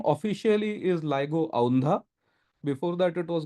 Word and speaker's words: LIGO: clarity uh two points one is it's not pronounced Lio it's pronounced ligo nobody here called it Lio but many people